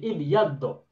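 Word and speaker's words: ابيضّ: Sehingga yang dibaca nanti pada saat kita membaca teks atau ketika kita membuat kalimat, maka juga bacanya menggunakan syiddah sehingga menjadi ibyaddo.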